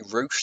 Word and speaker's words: Rush: know um Rush versus Paige with roosh sorry roosh that's how you pronounce it versus page up next